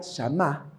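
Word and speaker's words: שמע: nomás sí oyó mire la palabra oyó en el idioma original en el hebreo se pronunciaría shamá y llamá significa escuchar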